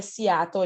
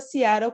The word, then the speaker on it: Seattle: Para a gente no Brasil é Seattle, a gente está acostumado a ver assim, mas na pronúncia correta, Seattle, como ela tem citado.